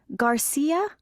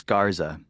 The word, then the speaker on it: Garza: Garcia? Actually, it's Garza.